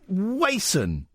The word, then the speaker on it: Wason: Now it's Wason. Thank you so much for pronouncing it right.